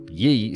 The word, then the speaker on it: Ye: ye2 and the ye4 the ye or otherwise pronounced Yi standing for yet in